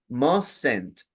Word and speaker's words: mustn't: Mustn't, shouldn't. Hay una E que se pronuncia, pero no se escribe.